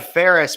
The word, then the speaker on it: Phares: yes speechless with Ferris last name p-h-a-r-e-s spell or pronounced like Ferris Bueller spelled a ton differently speechless with Ferris